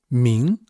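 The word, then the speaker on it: 明: Here, this character translated as enlightened, it is pronounced ming, composed of two radicals.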